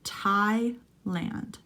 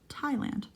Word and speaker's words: Thailand: common bee in Thailand notice there's no th pronounciation we just call it Thailand Thailand number two people eat